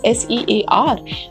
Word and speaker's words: sear: And in this dry heat cooking methods, you must have heard this word sear, and it spells as S-E-A-R, and we pronounce it as sear.